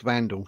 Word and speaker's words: Wandelt: If I'm wrong, let Julia Wandelt, or it's got pronounced Vandal, sorry.